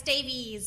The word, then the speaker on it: Davies: welcome is it is that right is it Davis is it Davies I know sometimes with the EU don't pronounce it uh it's Davies so it's IES okay welcome to humans versus